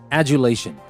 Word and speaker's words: adulation: Now for our very last word, adulation. And that is A-D-U-L-A-T-I-O-N. That is the same like arduous. We don't pronounce the D as a D, we pronounce it as a J.